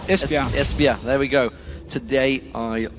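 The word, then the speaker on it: Esbjerg: there you go yeah it was actually one you pronounce it I I said esber I do espia there we go today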